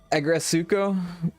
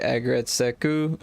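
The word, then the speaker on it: Aggretsuko: It like Agretsuko is how they say it in the show, right? But when you read it, it's like Agretseku.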